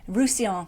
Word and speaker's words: Roussillon: Roussillon. I've got to remember how to pronounce that because it has two L's in